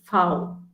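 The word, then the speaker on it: Vau: is different okay so when you see v you should remember that it's foul okay so v is foul w is way x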